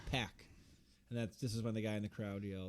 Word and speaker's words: PAC: a sense of that I'm pretty sure it's pack too p p Excalibur said Pac and he pronounces everything correctly yeah pack and that's this is